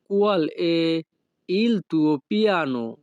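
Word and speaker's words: Qual è il tuo piano: তোমার পরিকল্পনা কি এই বাক্যের ইতালিয়ান ভাষা হবে কুয়াল এ ইল তুও পিয়ানো। কুয়াল এ ইল তুও পিয়ানো। ইতালিয়ান ভাষাতে ই এর উচ্চারণ হবে এ।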